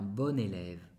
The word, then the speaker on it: bon: Paul est un bon élève. Alors, yo digo bon, pero se escribe bon. Solamente que yo hago la liaison.